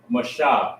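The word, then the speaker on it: משה: So this is Mashah, Moses. This is how you say Moses in the Hebrew, right?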